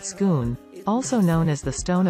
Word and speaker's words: Scone: government announced that the stone of scone pronounced schoon also known as the